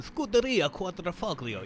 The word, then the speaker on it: Scuderia Quadrifoglio: You gotta hold your hand up whenever you're saying their team name in the typical Italian fashion. Scuderia Quadrifoglio.